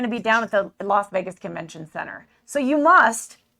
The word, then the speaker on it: Las Vegas: You're going to be down at the Las Vegas Convention Center.